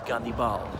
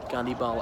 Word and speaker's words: Gannibal: Well, his great-grandfather was Gannibal, was from Ethiopia. Gannibal, as in their pronunciation of Hannibal.